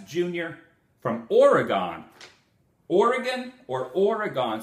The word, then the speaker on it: Oregon: Oregon or Oregon? Someone in Oregon said, please do not pronounce it Oregon. It's Oregon. We're still here. We're not gone. So I'm going to try to fix that. Oregon, not Oregon.